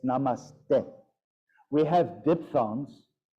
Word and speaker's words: namaste: instructor saying, hi everybody, namaste, which is completely bad pronunciation of a namaste. Bring your hands to heart center. And it's like, maybe she speaks fluent Sanskrit, I don't know, but that's the sound.